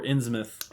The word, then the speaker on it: Innsmouth: Are we pronouncing it Innsmouth or Innsmouth? Innsmouth. I come from the New England area. It is Innsmouth.